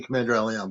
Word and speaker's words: CmdrAleon: If I said your name wrong, I No, apologize. that's all right. It's actually CmdrAleon, but you're okay.